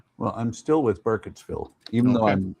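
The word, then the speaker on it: Burkittsville: Well, I'm still with Burketssville even though I mispronounced it as Durkittsburg before.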